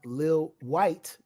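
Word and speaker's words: Lil Wyte: uh we also have Lil white not spelled traditionally white but w-y-t-e um and then we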